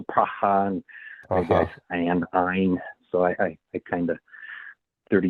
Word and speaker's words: Ayn: do you know that Ayn Rand is pronounced Ein as opposed to Yeah, and? Ein, like the German number one, Ayn Rand.